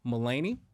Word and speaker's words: Mullany: very special guest Miss melany right that's right said it right with meany Wellness